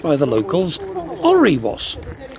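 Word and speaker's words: Alrewas: It's actually pronounced by the locals Oriwas. Oriwas.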